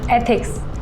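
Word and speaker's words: ethics: कि निम्मी कहां है इथ शुड थिक्स नहीं एथिक्स ऐसे प्रोनाउंस करो एक बार बोल के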